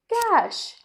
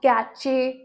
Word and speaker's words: cash: Moving on to our next word, which is cash, not catche, not catch, क्योंकि बहुत लोग इसे ऐसे बुलाते हैं जो हमारे सिस्टम में रहता है।